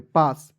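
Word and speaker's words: pass: चलिए नेक्स्ट देखते हैं पी A double S पी का प होता है ए का आ की मात्रा डबल एस है दोस्तों इसमें एक एस को साइलेंट कीजिएगा ठीक है और एस का प्रयोग करेंगे स के रूप में पास पी ए डबल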